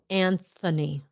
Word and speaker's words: Anthony: talking about pronunciation pronunciation anthony anthony anthony antony there's a th in there and funny it's devoiced it's not voice my voice push it